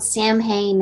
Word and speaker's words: Samhain: the the name of the the movie is s-a-m-h-a-i-n samhain okay so that you do pronounce it's okay no it's pronounced i didn't want to butcher it but yeah it's called samhain and the writer director he's shown me some